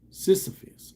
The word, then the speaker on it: Sisyphus: Saul but I still don't know how to pronounce that Greek mythology sis is a fist it's a Sisyphus okay Sisyphus jwk Sisyphus j w k ah